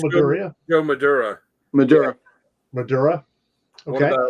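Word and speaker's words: Madureira: And the cover penciler was I can't pronounce that last name. Maduria. Oh, it's Maduria.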